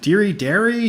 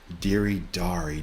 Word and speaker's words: Deri Dari: interview they're like so is it deary dairy deery dari how do i say it jake i'm like oh it's diri dari d-e-r-i-d-a-i that's how